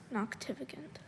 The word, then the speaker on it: noctivagant: you noctivagant noctivicant notificant noctificant can i have all the information please sure noctificant is the only pronunciation i have noctivagant is an adjective